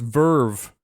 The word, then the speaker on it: VRV: Oh, VRV is pronounced Verve.